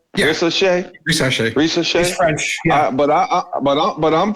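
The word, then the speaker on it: Risacher: Ricochet.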